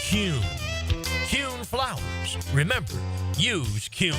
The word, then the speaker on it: Kuhn: And now I'm going to share the absolute right way to pronounce Kuhn flowers. It's Kuhn.